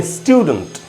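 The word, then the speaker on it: student: इसको डेंट नहीं बोल सकते, डंट डंट, तो हम इसको बोलेंगे स्टूडेंट स्टूडेंट, इस प्रकार से बोलेंगे स्टूडेंट, न कि स्टूडेंट। स्टूडेंट नहीं होगा।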